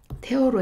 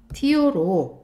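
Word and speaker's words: tear: 여러분 태어는 이렇게 태어로 해서 발음이 되잖아요. 그러면 철거하다, 부수다, 원래 찢다 막 이런 뜻으로 쓰여 돼요. 자, 그런데이 티어로 만약에이 발음이 티어로 발음이 되잖아요. 그러면 이때는 뜻이 뭐죠? 눈물이에요. 가슴을 찢으면 눈물이 나죠.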